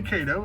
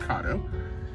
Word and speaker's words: Kato: Some people say Kato, it's actually pronounced Kato. It's a Japanese brand.